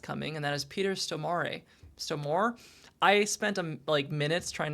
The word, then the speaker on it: Stormare: That's not correct. It's Somare.